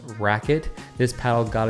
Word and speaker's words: RQT: paddle is literally called the rqt which is pronounced racket this paddle got its name rightfully so with